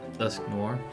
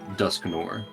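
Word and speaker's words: Dusknoir: I would love to have a Do you say how do you pronounce Duskops's evolution? Dusk noir. Okay, that's what I say, too. I've heard people say Duskore.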